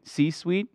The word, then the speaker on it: C-suite: c-suite uh c-suite like how you say sweet c-suite you got it sweet am I saying right you're saying it right okay